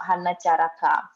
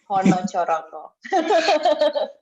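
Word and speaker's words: Hanacaraka: It's not Honochoroko, no, it's not Hanacharaka, but it's Honochoroko.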